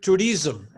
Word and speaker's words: tourism: English speaker start okay to tourism I heard tourism tourism tourism tourism the accent is on the first syllable and let me see